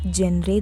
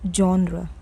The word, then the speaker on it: genre: When you talk about your favorite type of movies, do you ask someone what genre they like? No. It's genre. Say genre.